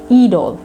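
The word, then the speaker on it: it'll: How long, ঠিক আছে, it will, they say idol. Idol হচ্ছে it will এর contraction form.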